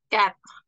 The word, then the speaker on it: quatre: El cuatro es cat. Cat. Como si la Q se pronunciara como una K. K.